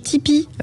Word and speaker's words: Tipeee: Il faut aller sur la page Tipeee, qui s'écrit TIP3E.